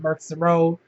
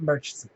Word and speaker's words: Murchison: row anybody native here we pronounce it with the k as opposed to the h o n m-u-r-c-h-i-s-o-n pronounce it marks the row foreigners pronounce it merchants so y'all know being